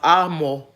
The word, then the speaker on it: Amos: the words around it's it's the Book of Amos but it's pronounced ammo the ammo was and